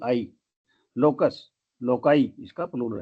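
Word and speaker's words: loci: शब्द लोकस एल ओ सी यू S loss लोकाई एल ओ सी आई लोकस लोकाई इसका plural है फिर हमारा शब्द है क्राइसिस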